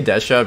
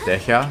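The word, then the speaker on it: Dehya: really bad yeah sorry I say desha because I use the Japanese VA and that's how they pronounce it but I've been told that it's just Teja so oh geez so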